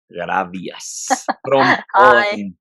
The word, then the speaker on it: Grabias: as always with the wonderful presence of magdalena gravias how how it is pronounced in paul in in polish my name